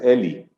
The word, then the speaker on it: Eli: En realidad es Eli, Ah, no ok, Eli. Pero es igual, si me dicen Eli, igual respondo.